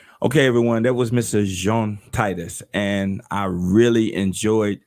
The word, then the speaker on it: Jean: from liberia am i is it jean or john it is jean yes it's a french name it's jean very frequently okay well